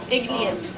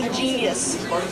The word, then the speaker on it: igneous: I also used to mispronounce the word igneous as an igneous rock. I used to say ingenious.